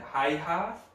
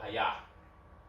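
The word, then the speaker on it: Häyhä: Hi-ha? That's weird. I'm gonna go with Haya. Okay, I like that. Hi-ya.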